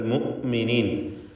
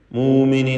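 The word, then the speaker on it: مؤمنين: അൽ മുഅ്മിനീൻ ഹംസ കടുപ്പത്തോടെ ഉച്ചരിക്കണം. ഷിദ്ദ എന്ന സ്വഭാവം ഹംസക്കുള്ളതാണ്. മൂമിനീൻ എന്നായി പറയുന്നത്. മിനൽ മുഅ്മിനീൻ.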